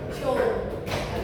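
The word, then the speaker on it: joule: J itu artinya apa? Jo. Nanti bacanya bukan J gitu ya.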